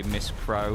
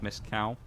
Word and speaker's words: Miss Cow: There was people who would mispronounce, like streamers would mispronounce it sometimes, and they would say Miss Crow instead of Miss Cow.